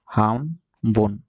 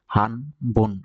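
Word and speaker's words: 半分: পেয়েছিলাম এটাকে অর্ধেককে বলা হয় হামবন হাম বন হাম বন হামবন হামবন মরাই মাস অর্ধেক পেয়েছিলাম এটা দেখেন ছিল ফোন কেন হামবন হলো দেখেন এটা লিখেছি কি হানবন কিন্তু উচ্চারণ করতে হবে হামবন হামবন ন এর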